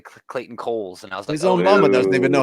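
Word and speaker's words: Cowles: it no way wait how did you say he pronounces his name I don't know cuz I saw a website it's Clayton Coles like there's no way that's right there's no way that's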